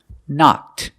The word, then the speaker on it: knocked: Knock in the past, knocked. I knocked over the cup. We hear the ED sound, knocked, making the T sound, knocked.